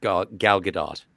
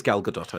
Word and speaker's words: Gal Gadot: And also, her name is pronounced Gal Gadot. It is Gal Gadot.